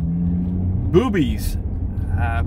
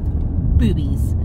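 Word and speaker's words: Bube's: gonna head over to boobies boobies boobies of course it's not spelled boobies it's spelled b-u-b-e-s yes brewery but it's pronounced boobies and we're very excited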